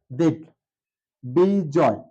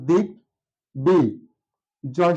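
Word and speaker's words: দিগ্বিজয়: আছে কারণ বলা হয়েছে যদি গ এর সাথে ব যুক্ত হয় তাহলে অবশ্যই ব এর উচ্চারণটা থাকবে আমরা এটা এভাবে উচ্চারণ এভাবে লিখতে পারি দিক থেমে গেলাম হসন্ত ব্যবহার করলাম দিক বি জয় বয় রসকার বি এটা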